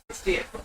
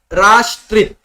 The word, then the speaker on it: Rastrith: So yeah, before you tell next faculty my name wrong, it is Rastrith. STR. Who is STR? Who? Some New Year, all those things. Correct. Okay. So it should be pronounced as Rastrith. Rastrith. Okay. Thank you. We will say Rastrith. T is there. We will say Rastrith. That A should be stressed.